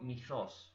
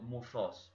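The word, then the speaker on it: μῦθος: Un mito, la palabra viene del griego mythos o muthos, porque ustedes saben que esa Y es una letra que no formaba parte del alfabeto latino, se llamaba Y y es una pronunciación entre la I y la U.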